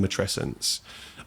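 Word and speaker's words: matrescence: You introduced me to the term matresence as in adolescence for anyone that needs to know how to say it.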